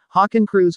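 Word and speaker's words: Hakenkreuz: or nsdap officially adopted the swastika in german hawking crews pronounced more or less h a h k n k roits in 1920.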